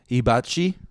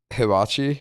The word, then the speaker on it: hibachi: Hibachi. Yeah, that's so it's not you emphasize the H.